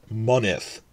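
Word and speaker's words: mynydd: But, crucially, when Y is the last syllable of a word, it switches to a short I sound.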